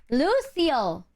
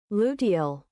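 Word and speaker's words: luteal: Lucille phase.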